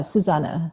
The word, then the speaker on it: Susanne: Yeah, and the way you say my name is Susanne, but it is spelled with an E at the end, but it's German.